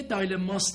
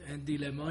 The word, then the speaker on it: dilemma: رازی میگه این یه دایلماست، این یک دیلما یا دایلما، هر دو تلفظ دیگه.